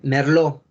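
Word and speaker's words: Merlot: es una palabra francesa en las palabras francesas las las letras de betoño el elefante y ese de sopa el ts si están el al final de una palabra francesa no se pronuncian no se pronuncian salen entonces para que lo tomen en cuenta porque muchas uvas son de origen francés entonces la publicación por supuesto que está en francés sale merlo guau merlo una uva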